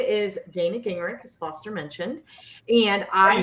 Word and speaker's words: Gingerich: my name is dana gingrich as foster mentioned and i spell gingrich how do you spell that ginger with an ich that's my perfect it's